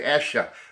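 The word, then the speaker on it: Esher: more disc of the Essure or Escher demos I don't how to pronounce that I'll say yes sure okay I'll just say it that way I'm from New England say Asha the Asha demos you know my Boston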